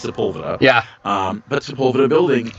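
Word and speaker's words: Sepulveda: pronounce it wrong now I know how to pronounce sea yeah I used to say sea it is not that it's seula yeah um but Spa building and it's the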